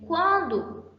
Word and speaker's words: quando: Já em quando, eu pronuncio tanto o U quanto o A.